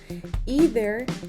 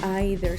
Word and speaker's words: either: Si observamos aquí en la pronunciación, podemos observar que este término tiene dos pronunciaciones correctas posibles. ¿Cuál de las dos es más común? Las dos. Ahí depende de la persona.